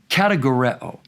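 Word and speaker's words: κατηγορέω: It's a word from a root in Greek that would be pronounced categoreo, a noun form categoros, or another noun form categoria.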